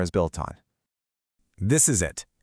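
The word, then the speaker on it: を: The one that looks like wo is actually pronounced o, and it points to the thing getting verbed.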